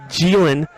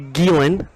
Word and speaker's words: Geelan: I was calling him James Geelan on Friday night, the soft G. It's actually Geelan.